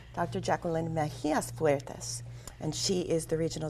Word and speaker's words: Mejias Fuertes: I've still been pronouncing it wrong, but it's Dr. Jacqueline Mejia-Fuertes.